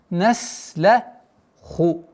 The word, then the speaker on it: نَسْلَخُ: Аятулля хумуль лейлу наслаху. Наслаху. Твердое произношение ха. Наслаху. Нужно немножко удержать син, потому что полноценное свойство свиста нужно выговорить.